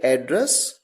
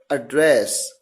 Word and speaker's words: address: तो जब एड्रेस को, जब इस पर्टिकुलर वर्ड ADDRESS को एज अ नाउन यूज किया जाएगा तो आप इसे प्रोनाउंस करेंगे एड्रेस, जिसका मतलब है पता। और जब इसे एज अ वर्ब प्रोनाउंस किया जाएगा तो इसे प्रोनाउंस करेंगे एड्रेस, जिसका मतलब है संबोधित करना।